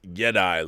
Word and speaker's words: Jedi: Jedi is pronounced Jedi, like Yeti in Spanish, or at least it